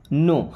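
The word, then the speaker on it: know: मैं don't means नहीं नो अब इस वर्ड में के और डब्ल्यू दोनों होते हैं साइलेंट ओके प्रोनाउंस केवल नो को करते हैं बट लिखा के और डब्ल्यू भी जाएगा ओके इसका मतलब होगा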